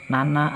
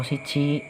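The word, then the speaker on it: 七: Dengan cara baca nana atau shichi.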